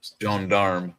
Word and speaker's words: gendarme: They called the French, which is gendarme. I never pronounce it correctly, but it's gendarme.